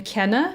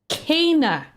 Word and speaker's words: Kena: I play the game, and I'm talking to one of the characters. They call her Kenna. Kana. Oh, right. Kana. Oh yeah, no, I saw that in your video earlier. Kana. I was like, where the fuck is the A sound coming from? It's like, what the fuck? I guess if we sound it out, it's like Kayna or something.